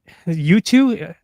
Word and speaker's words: Yutu: I think U2 is that. I think that's how it's pronounced. It's spelled YUTU.